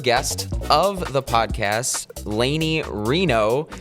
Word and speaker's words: Rienow: the podcast Lany Reno which I've learned that's how her last name is pronounced uh let's just start off by saying how many times have you gotten Rhino as your last name instead of Reno plenty of times basically